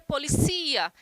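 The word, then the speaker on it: policía: dessa palavra por exemplo para a gente em português a gente fala polícia já em espanhol seria policia então a sílaba tônica seria uma outra recai uma outra sílaba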